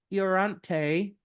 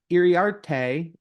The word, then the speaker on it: Iriarte: Hario, I'll say it, Hario Iorante. I think I said it wrong. Iriarte, their 3rd best prospect in the Padre system.